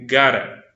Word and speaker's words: gotta: So, so as if just pay attention to how I'm pronouncing the word, because it's normally used in spoken English. It's not pronounced in a general English way, or a received pronunciation, as we say. You gotta, we gotta go, you gotta do, we gotta hurry, gotta.